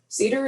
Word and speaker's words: CDER: It is written as CDER, and it's pronounced as cedar, like the tree that everybody has allergies with at least once in a while here in Central Texas.